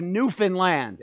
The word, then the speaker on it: Newfoundland: learning so much from the Canadian province of Newfoundland and yes that's how you that's how you